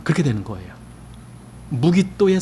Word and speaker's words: 무깃도: 그리고 우리말에 마겟돈 이렇게 한 그 단어는요, 히브리어의 무깃도라고 하는 단어입니다. 무깃도. 여러분 그게 무슨 뜻인지 알겠죠? 그래서 아마겟돈 하면은 무깃도의 산, 그렇게 되는 거예요. 무깃도의 산.